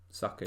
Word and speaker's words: Saka: I think if they can really maybe give, I don't know how to pronounce his first name, is it Bukayo Saka? Saka, yeah.